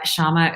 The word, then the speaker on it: Syama: you guys didn't know Shama is spelled with a why not an H make sure that I